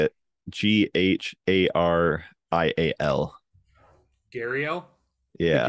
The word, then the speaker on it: gharial: Gharial. Gharial? Yeah. Gharial.